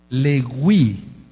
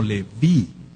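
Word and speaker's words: לוי: La letra B sonaba como W. Por eso el melec da Dawid es el rey Dawid, no es el rey David. Lewii, después ya se pronunció como Leví, pero antes del exilio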